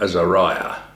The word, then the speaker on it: Azariah: also hananiah mishel and Azaria or Azariah as some might pronounce it but it these people